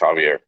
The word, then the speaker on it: Javier: It's either Javier or Xavier, one of those two. Yep, it is. It's Javier.